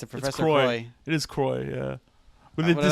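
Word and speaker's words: Croix: It is Croy. Yeah, but they did say I like say? Koriox. They pronounce the X, which is weird.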